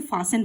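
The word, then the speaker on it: fasten: with a रोप मतलब यहां पर टी साइलेंट है इसे फसन पढ़ेंगे सो उस उसी समय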